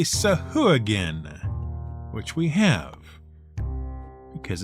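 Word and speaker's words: sahuagin: an episode about nearly everyone's favorite hard to pronounce monster the sahu again which we are clearly going to keep pronouncing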